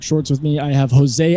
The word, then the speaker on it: Jose: We have Jesse with us. Jesse, how do you pronounce? Or not Jesse? I'm sorry, Jose.